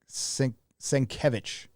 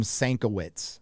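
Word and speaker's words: Švič: the um bill S svich I used to call him Switz I didn't know how to say his last name so it was Bill Switz for forever but it's svich who's a psychopath and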